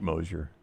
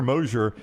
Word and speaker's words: Moser: How do you keep Mosier? I mean, it has not worked at all. What has he done there? I think you should Mosier. Mosier? It's Porter Moser, right? Moser? Yeah, it's Moser.